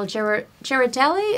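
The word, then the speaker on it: Ghirardelli: Girardelli, is that the right way to pronounce it?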